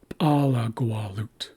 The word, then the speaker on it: alagwalut: And then it shifts back to the first syllable in this next example, which is alagwalut.